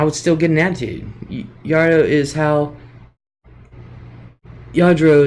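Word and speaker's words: Lladró: Yadro is how it's pronounced.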